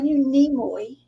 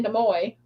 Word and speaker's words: Nimoy: Yeah, I knew Nimoy. Uh-huh. Yeah. Nimoy. A lot of people say Nimoy.